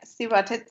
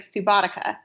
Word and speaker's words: Subotica: If you read Subotica out loud, it looks like Subotica because the C isn't the same as in Latin. We would pronounce it like ka, but it's sa.